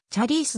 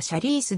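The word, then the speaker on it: Charice: フィイーピンでの発音はちゃリースであるが日本ではシャリースで定着している 2005 年にアメリカ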